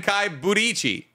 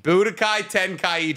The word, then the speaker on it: Budokai Tenkaichi: Tenkai Budichi. Mm. Buddha Tenkai. You're closer. Tenkai Budichi? You're close. Budichi. Swap them. Budichi Tenkai. Budokai. Budokai Tenichi. Tenkaichi. Budokai Tenkaichi. Yeah, you're like seven.